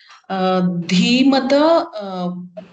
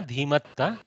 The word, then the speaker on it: धीमता: Dhimata Takarantah Pullingaha. Not Dhiman, na Dhimatta.